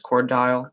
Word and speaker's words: Cordell: so you work for cordell right that's correct yeah is that how you pronounce the chord dial record poor dial yeah just like like they were two separate words but smashed together okay um so what